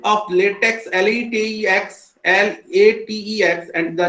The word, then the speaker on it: LaTeX: Spelling of latex, LATEX, LATEX, and the name is called LaTeX. It is based on the text pronounced as TeX, a typesetting language designed especially for the maths and science.